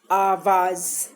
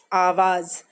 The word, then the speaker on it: आवाज़: ठीक है, अब अगला शब्द है हमारा आवाज़। आवाज़, आवाज़, आवाज नहीं है ये, आवाज़।